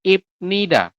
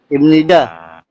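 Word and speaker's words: 입니다: Jadi, teman-teman nanti bacanya bukan ibnida. Tapi dibacanya apa? Adalah ni. Imnida. Betul, seperti ini.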